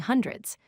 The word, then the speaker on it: hundred: Let's discuss common mistakes people make when saying hundreds. First mistake is putting the stress on the wrong syllable. Remember, the stress goes on hun, not dred.